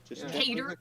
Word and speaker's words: Qatar: Qatar. Okay. Qatar. Kater.